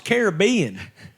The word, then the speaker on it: Caribbean: I mean it's a look at you pronounce it correctly come on it's Caribbean sorry anyway it's a